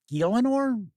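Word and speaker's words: Gielinor: I've never played it I'm hoping that's close to the pronunciation galanor ganor I I say ganor it's g i e l i n o r now you can bring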